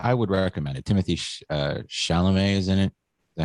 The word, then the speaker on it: Chalamet: Timothy Chalamet is in it. Is that how you say it? Chalamet?